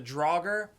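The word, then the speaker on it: draugr: enemy designs for the draugur is how you say it draugur it's North's mythology zombies that like live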